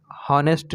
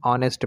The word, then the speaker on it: honest: क्या है, वावेल है, तो वावेल से पहले अगर एच जब भी आए तो वहाँ पर एच को साइलेंट रखते हैं, तो यहाँ पर हॉनेस्ट नहीं पढ़ेंगे, ऑनेस्ट पढ़ेंगे।